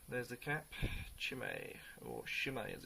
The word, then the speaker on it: Chimay: looking at is a beer called chimay but he's actually pronounced shimmer so you grab the